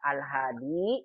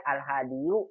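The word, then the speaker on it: الهادي: Dibacanya al-hadi, nggak boleh al-hadiyu, al-qadiyu, susah orang Arab. Al-hadi, al-qadi, as-samani, al-ghali.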